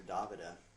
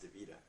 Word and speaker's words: Davida: uh talking about davida everybody calls her davida but actually her name is pronounced devita uh i was with